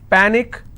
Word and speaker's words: panic: so let's break this panic is per nick which means i will stress on pa and it's pronounced at panic